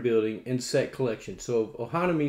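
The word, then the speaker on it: Ohanami: Ludwig misses both said uh Oni on a Ohana me that's what it is oh honey I'm sitting here trying to pronounce it it's Ohana me it's a 2019 card game closed drafting pattern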